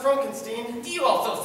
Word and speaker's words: Frankenstein: Transylvania train station Dr Frankenstein Frankenstein don't put no it's pronounced Frankenstein do you also say